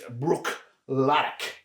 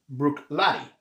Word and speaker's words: Bruichladdich: I mean, you would think it's Bruichladdich. Yeah. And it's not. It's Bruichladdich. And actually, if I'm really being technical, I think it's Bruichladdich. All right. And so I think the I in the almost like Buick. Yep.